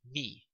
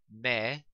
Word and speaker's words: me: And again, it's pronounced me and not like the word in English, me.